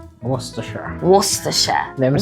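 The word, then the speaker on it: Worcestershire: We had to, you know, teach her these pronunciations. So, it's actually an English place and it's Worersha. Worersha.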